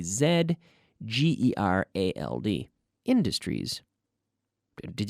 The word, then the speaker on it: Z: American that's true but as Canadians we usually use the American pronunciation but this is a case where we go with the British or the non American is in anyone who's not from the United States of America will say Zed Zed okay I'm calling